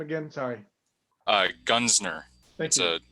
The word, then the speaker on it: Gunzner: Gunsner. Thank you. It's a difficult German name. Oh, then you better spell it.